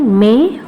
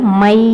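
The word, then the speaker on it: मैं: அதில் first lesson மே ஹூம் அப்படிங்கிற லெசனை பற்றி தான் இன்றைக்கி பார்க்க போகிறோம். மே ஹூம் இது லெட்டரில் மை அப்படின்ற மாதிரி இருக்கும். ஆனால் இதை நம்ம ப்ரொனவுன்ஸ் பண்ணும்போது மே அப்படின்னு தான் ப்ரொனவுன்ஸ் பண்ணணும். மே மே ஹூம் அப்படின்னா ஐஎம் அப்படின்னு அர்த்தம்.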